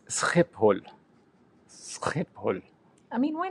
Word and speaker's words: Schiphol: In German, it would be, Schiphol, or Schiphol, actually, probably. Mm-hmm. But in Dutch, it's Schiphol.